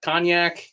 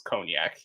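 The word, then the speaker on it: Cognac: It's not Kgnac, it's Conac.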